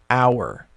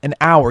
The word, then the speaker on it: hour: like in the word hour. Now, hour actually starts with an H, but it's silent. An hour, you don't pronounce the H, so it's still an.